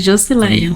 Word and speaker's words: Joscileia: É assim mesmo que pronuncia, né? Isso, Josileia.